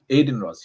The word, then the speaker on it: Adin Ross: his name Adin Ross and sneo going around Aiden Ross yes you're right yeah Aiden Ross and sneo